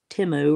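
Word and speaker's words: Temu: mind every time you can go Cy it's timu or whatever it is I don't know but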